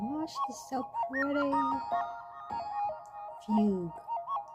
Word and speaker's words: Fugue: Fugue. So it's like Hugh, but with F.